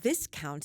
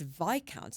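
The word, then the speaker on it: viscount: And he looked at me horror and said, "It's not this count, it's VIC count." And of course, I then immediately had to say, "But why would it be Viccount? It's spelled exactly like discount."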